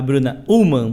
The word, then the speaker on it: Bruna Ullmann: Hoje estamos com uma convidada muito especial, a Bruna Ullmann. Pronunciei correto, Bruna?